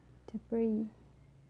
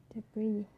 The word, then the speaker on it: debris: For the letter S, it can also be silent. For example, island, island, debris, debris, aisle, aisle.